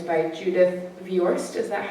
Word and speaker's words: Viorst: It's called The 10th Good Thing About Barney, and it's by Judith Viorst. Is that how you pronounced it earlier? I believe you. Judith Viorst, illustrated by Eric Blegfad.